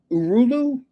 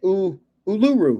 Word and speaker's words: Uluru: I want to go see Heir's Rock, which is called Uruulu. If I'm saying that correctly, is that how you say it? Uluru. Yeah. Heirs rock.